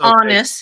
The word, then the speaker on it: Aanes: am I pronouncing it wrong? It's pronounced honest. It's from Norway.